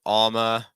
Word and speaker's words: Alma: Girls' names, we have Alma. Stress first syllable.